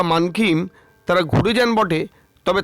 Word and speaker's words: Mankhim: ঋষিকোলাতে এক রাত কাটিয়ে 2 রাতের জন্য চলে এলাম মানকিমে। উচ্চারণটা আসলে মানকিম।